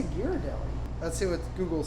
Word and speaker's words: Ghirardelli: not how do you say it i say ghirardelli let's see what google says oh that's serious